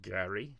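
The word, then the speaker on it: GARI: So we had RMI Cyber they released their latest attack surface management product which they called Gary G A R I which is good good acronym.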